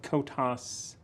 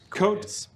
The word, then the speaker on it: Kotas: that he worked for Kotas. This is not Coitus. Jackson Cotis. Spelled with a K because it's fantasy.